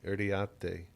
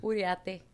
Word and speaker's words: Uriarte: Uriarte. How do people pronounce that? Did they mess it up? All the time. Uriarte. Right. Yeah, they don't pronounce the second R. There's two R's.